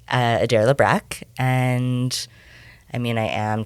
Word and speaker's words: Libbrecht: It's Libbrecht. Okay, so the T's silent. The T is silent.